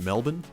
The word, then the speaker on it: Melbourne: This word is pronounced Melbourne, and this word is pronounced Brisbane.